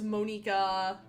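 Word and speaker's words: Monika: nerd and say that that's not how it's pronounced. It's Monica, but uh I haven't even played Dokyoki Literature Club.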